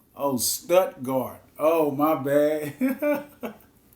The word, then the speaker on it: Stuttgart: Not with a T, not an L. Oh, Stuttgart. Oh, my bad. Stuttgart, okay.